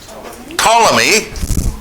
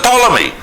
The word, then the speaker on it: Ptolemy: where a general called Ptolemy, one of the generals of Alexander, again, spelt with a P to confuse everyone in history, right?